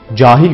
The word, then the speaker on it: cahil: Örnek, katil, cahil gibi kelimelerde vurgu ilk hecede yani uzun A sesinin olduğu hecededir.